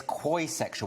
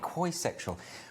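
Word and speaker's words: quoisexual: aroused by dodgy french accents and then there's koisexual which i'm probably mispronouncing q-u-o-i quoi sexual which is when you don't identify with any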